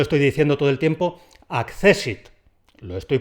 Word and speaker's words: accésit: castellanizado en la ortografía por eso es accésit con dos tests pero con una sola s y con su tilde para que nos acordemos de que eso hay que pronunciarlo como palabra jana insisto y como forman